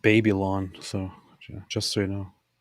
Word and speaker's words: Babylon: It's actually pronounced Babylon, so just so you know.